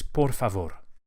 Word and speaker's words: por favor: please in Spanish is por favor por favor each of the ARS is likely flipped with the very tip of the tongue porfavor just behind the front teeth what if I bought